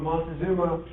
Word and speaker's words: Montezuma: Anyway, along the line in about 1440, a fellow by the name of Montezuma, I pronounce it Mont, like it's got an N in it, it's M-O-C.